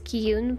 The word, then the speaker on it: Qi Yun: i pronounce it wrong i did look up how to say the main character's name which was ki yoon but i don't know